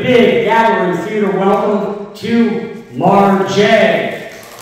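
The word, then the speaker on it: Mar-J: It's spelled M-A-R-J. I had to add the dash because I got tired of people calling me Marge Simpson.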